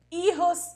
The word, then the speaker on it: hijos: Hijos e padres, vale? Tranquilos. Hijos começou com H, com H, ela não tem som, então ficou hijos, fica feia a pronúncia, vale?